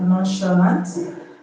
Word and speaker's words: nonchalant: Now, first one we have nonchalant. The CH in nonchalant is pronounced sh. Actually, we have chassis.